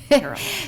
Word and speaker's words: Terrell: My name is pronounced, it rhymes with Carroll.